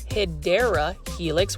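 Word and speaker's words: Hedera helix: But um you can see we also have another hedra helix or the correct way to say it is hideera helix which is called the English ivy.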